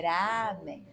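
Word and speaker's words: ラーメン: estava lá também mas é lamen ou Ramen então a pronúncia em Japonês é Ramen é bem puxado mesmo se tivesse ali separando o azinho pro até o tracinho né sim é então o a fica duas vezes amém Mas vamos falar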